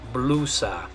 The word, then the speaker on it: blusa: to pronounce this is blusa. Blusa. Remember, we also did our video about the vowels, the A, A, E, O, U. So the letter U, it's going to make an U sound.